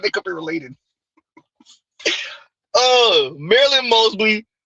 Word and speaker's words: Mosby: Marilyn Mosby, because you pronounce it right. There ain't no L in there.